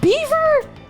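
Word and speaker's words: Belvoir: Belfor it's pronounced Beaver.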